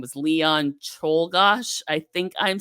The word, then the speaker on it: Czolgosz: So Czolgosz, Leon Czolgosz, I think is how you say it.